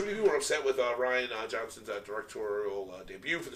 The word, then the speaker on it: Rian: Oh, is that how you say it? Actually, it is Ryan.